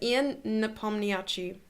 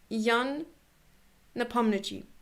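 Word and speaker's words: Ian Nepomniachtchi: their own pronunciation today i pronounced um jan the pomniachi's name and i always thought it was ian so then i said ian napomniachi but it's apparently yan napomnichi monaco okay goodness that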